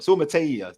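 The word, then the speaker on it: Suamataia: Suamatea.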